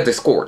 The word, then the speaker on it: discord: ね、まあ、動詞の場合は discord っていう風に発音することが多いかな。